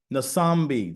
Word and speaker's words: Nambi: you for that um nambi did I pronounce that right you did thank you all right